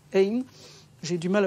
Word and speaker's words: Ain: Ain, c'est très dur à prononcer, Dr. Ain, I-N, enfin comme Cain, censé, c'est Dr. Charles Ain, donc c'est Ain.